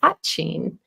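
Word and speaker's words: poitín: And to help people pronounce it correctly, I tell them to emphasize and remember the word pot. So poitin is the correct pronunciation.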